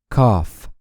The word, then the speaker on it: cough: كافي، coffee، cough.